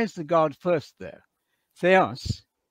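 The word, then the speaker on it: Θεός: Theos. I'm using a modern Greek pronunciation. Theos, enologos.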